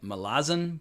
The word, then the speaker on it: Malazan: but apparently the author Steven Ericson emphasizes the second like Malazin Book of the Fallen.